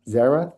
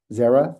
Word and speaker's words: Xaira: The company name is pronounced Zera Therapeutics. It may be as confusing as my first name. Uh, so think Zera Thera.